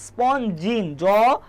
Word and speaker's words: স্পঞ্জিন: স্পঞ্জিন, জটা একটু বেশি উচ্চারণ করবে, স্পঞ্জিন, জতে জৈবতন্তু, ঠিক আছে।